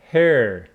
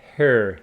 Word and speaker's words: her: repeat with me I her please be careful it is ha some students go ha which is incorrect her okay so we